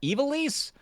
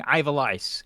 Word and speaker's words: Ivalice: Also, I didn't know how you pronounced evilise. I was saying Ivalice, which made it sound like I have lice, which I didn't want to say out loud.